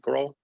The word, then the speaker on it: Grohl: He was on stage with Dave Grohl. Is that how you pronounce his last name? Grohl, right? Grohl.